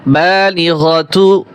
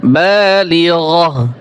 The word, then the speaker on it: البالغة: এখানে ওয়াকফের চিহ্ন আছে, তাই এই যে গোলতা রয়েছে, এই গোলতা ওয়াকফ করলে হা উচ্চারণ হয়। তাহলে এখানে বালিগতু, তু বলা যাবে না, বালিগহ, হা উচ্চারণ করতে হবে।